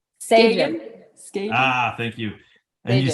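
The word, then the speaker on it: Sagen: Sagin.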